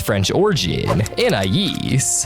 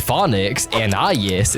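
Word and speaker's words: Anaïs: It's usually pronounced according to the name's French origin, Anais, but it's occasionally pronounced according to the English phonics Anais instead, usually by Darwin and Granny JoJo in the earlier seasons.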